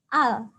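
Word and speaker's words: 알: tekanan ini bacanya apa ini bacanya adalah Al dibaca a karena huruf realnya berada di bawah jadinya roof rail ini dibaca l Bacanya adalah Al Sekarang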